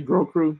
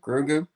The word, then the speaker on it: Grogu: Is she supposed to be Grogu, your sister? Yeah, yeah, Baby Yoda. How do you say his name? Grogu.